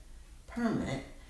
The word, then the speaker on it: permit: So when I said we need to get a permit, then the accent was on the first syllable, and it was a clue when I had that article that a noun was coming.